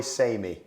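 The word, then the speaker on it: Sané: Does a player rhyme with same? Leroy Samey.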